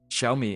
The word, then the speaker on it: Xiaomi: So, I remember buying my first Xiaomi phone. Is that how I pronounce it? Xiaomi.